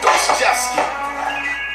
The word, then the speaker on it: Dostoevsky: Listen, Dostoevsky.